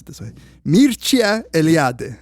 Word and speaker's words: Mircea Eliade: pronounce it this way, Mircea Eliade. Like I looked up the Romanian way. Nice. Because to be honest, I never knew how to say his name. Mircea Eliade. Mircea Eliade.